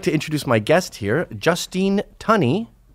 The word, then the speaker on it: Justine Tunney: I would like to introduce my guest here, Justine Tunney, right? Yes, that's Pronounced correct. correctly.